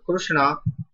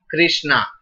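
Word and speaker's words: कृष्ण: about this whole world who doesn't know how to pronounce krishna they in english some people are writing those who don't know are writing krishna like this and they pronounce like krishna absolutely wrong krishna it's wrong in sanskrit when you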